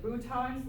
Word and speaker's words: boutons: These are the boutons, looks like buttons, spelled like buttons, but we say boutons, little swellings at the end.